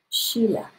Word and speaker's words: Sheila: My name is Sheila, with a long E pronunciation.